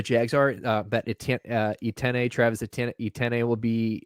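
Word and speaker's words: Etienne: you just said that i've always in my mind read it as atn like an ability i thought it was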